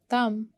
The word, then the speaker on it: thumb: Thumb, B is silent.